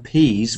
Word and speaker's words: peas: dinner I'd like some peas with my dinner and actually it turns to a z as well the second time the voice sound is z z so the first one